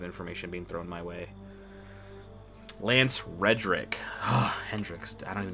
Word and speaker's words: Lance Reddick: This could literally just be Zavala grieving for Lance Hendricks.